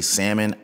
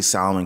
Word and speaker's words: salmon: And some people say salmon. I say salmon because there's an L in it. Other people are like, well, the L is silent. My thing is always kind of like, okay, do you say salamander or do you say salamander, right? You still use the L, right?